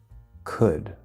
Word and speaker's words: could: We have another common spelling pattern of sorts, which would be O-O-D or O-U-L-D, where the L is silent. There's no L sound. Good, would, should, could.